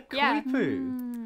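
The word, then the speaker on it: coypu: Oh, yeah, the Koipu.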